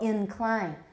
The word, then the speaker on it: incline: me hesitate there right so incline is that is that a full vowel or a schwa in klein the first syllable is a schwa or a full vowel it's a full vowel incline incline sounds odd i